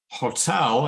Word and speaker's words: hotel: now it mixes so normally when we say bottle it's the first syllable that's stressed and with hotel as the second syllable